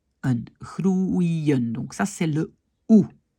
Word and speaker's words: groeien: De nouveau, on fait très attention quand on a par exemple groeien, on sait que ça c'est OU, et puis un I, et puis un N.